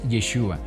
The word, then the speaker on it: Yeshua: yeshua del Elohim nuestro al decir Jesús si bien sabemos A quién nos estamos refiriendo se está pronunciando a una palabra que ha sufrido alteraciones en su pronunciación a lo largo de la historia y no podemos ignorar que el verdadero nombre del mesías es yeshua así lo llamaba a